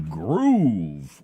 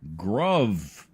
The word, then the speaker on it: Gruv: Now it's done through Groove or Gruv. It's spelled like grub with a V. I always pronounce it Gruv. I know they want it to. They want you to pronounce it groove, but no, you are Gruv.